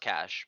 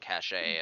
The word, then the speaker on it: Cache: that word yeah it's it's pronounced cash but okay I've heard so many people pronounce it cachet and you know languages